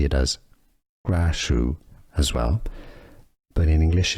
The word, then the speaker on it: Krasue: There are different pronunciations depending on the country. Essentially, Kajju is one of them. Some say it as Grashu as well, but in English it's often pronounced Graasu.